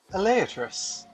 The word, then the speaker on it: Elaeatrus: Elaeatrus. Yes, that is how the name is pronounced, I asked.